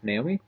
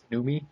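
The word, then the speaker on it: Noomi: interview questions with fast bender and uh God Naomi is that the correct pronunciation numi oh God that's things I said saying I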